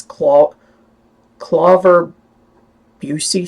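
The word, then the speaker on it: Klüver-Bucy: them to look for I don't know how you pronounce I think it's claw ver busy syndrome that's why you need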